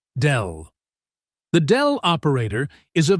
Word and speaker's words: del: It is written as a downward-pointing triangle and pronounced as del.